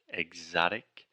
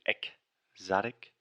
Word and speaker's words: exotic: Exotic. So she was saying exotic, but imagine you were saying exotic, like you were saying the word egg almost, like ovu, and then zotic.